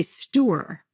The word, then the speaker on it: store: But from New Jersey, you say store. Like, I'm going to go to the store. Store. Yeah. It's hard for me to say it now, but it has two syllables.